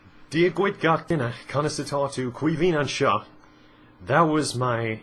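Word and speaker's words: Caoimhín: Quivin is Kevin in Irish, which is really awkward when you're young and you can't spell your own name on your Irish test.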